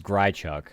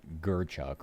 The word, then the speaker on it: Grchuck: This is Grchuck, not Gerchuk. Like, what the I understand it's not like a common name, but come on.